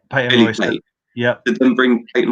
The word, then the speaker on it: Peyton Royce: Then they split up Peyton Royce, or is that you say her name? Patton Royce? Peyton Royce.